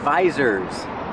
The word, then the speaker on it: visor: And these are called visors. Use the long I like ride and bike.